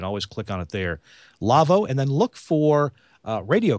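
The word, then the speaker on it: Lawo: got to mute something external uh it's the lavo crystal clear and if this appeals to you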